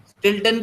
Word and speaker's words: Stilton: स्टिल्टन की spelling है STILTON, स्टिल्टन।